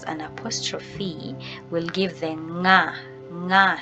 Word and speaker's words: ng': So these two, they are pronounced differently. So NG that has an apostrophe will give the nga sound.